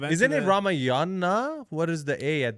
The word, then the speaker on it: Ramayan: Say Ramayan. Ramayan.